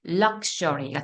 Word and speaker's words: luxury: 그래서 이 X를 중심으로 강세가 앞에 있으면 크스, X 발음이 강세가 뒤에 있으면 그즈가 됩니다.